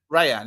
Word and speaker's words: Rayan: Rayan, yeah.